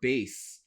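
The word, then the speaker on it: בית: The symbol bet or base, depending on your pronunciation, functions in Lashon HaKodesh as the preposition in.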